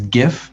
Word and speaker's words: GIF: just say just i the english would traditionally make that a hard g sound before the eye like kathie lee giffords right there's actually a video of the guy who invented it saying give oh the inventor says is gif yeah there you go well that settles it there you go but thank you for pointing out the fact that the g stands for graphics therefore it should be a hard g what's your grammatical uh